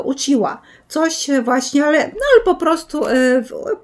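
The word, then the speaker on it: うちわ: z dwóch motków włóczki Uhiwa. Ja to mówię na to Uhiwa, choć zaglądając do słownika języka japońskiego, to już wiem, że Uhiwa to jest wentylator i czyta się to jako uciła.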